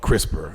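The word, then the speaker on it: CRISPR: I guess this this is a technology called crisper and it's spelled oh yeah uh you know okay so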